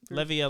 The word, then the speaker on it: Levia: And it is Levia? No. It's either. It's either. Oh, because neither of them are wrong. Okay. You know what I mean? Very Levia, Levia is pronunciation.